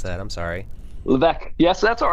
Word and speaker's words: Levesque: That's how you pronounce that. I'm sorry. Levesque.